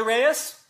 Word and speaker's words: Reyes: night movie can you hear me yes reyes that's me that's the correct correct pronunciation of your name i was concerned about